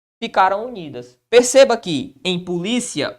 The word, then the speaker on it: polícia: a separação assim ó polícia qual é a sílaba tônica de polícia perceba que a sílaba tônica é uma posição que paroxítona Qual é a terminação